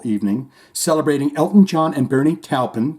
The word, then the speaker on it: Bernie Taupin: celebrating Elton John and Bernie talpin because I too say it like Shane does Bernie talpin a songwriting partnership and